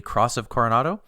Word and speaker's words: Cross of Coronado: unfortunately is the uh and sorry if i pronounce this wrong uh paul the cross of coronado that's correct that's cool oh this is very